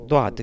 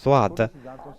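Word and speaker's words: ضاد: Quand on prononce la lettre Dwad, on doit pousser la langue au-delà des dents. Et la lettre Dwad, on la prononce avec la langue derrière les dents.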